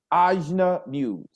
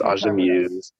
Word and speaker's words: Ajna Muse: Next coming up, and forgive me if I pronounced the name wrong, Ajna Muse. But I did, I said it right. Yeah, that was right.